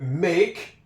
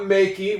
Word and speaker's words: make: We know that make, that is not makey. We know that that's make because that's a silent E at the end.